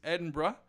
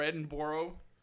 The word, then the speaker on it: Edinburgh: And my father said his favorite city in Europe was Edinburgh. Yep. Or Edinburgh, as I hear Americans pronounce it.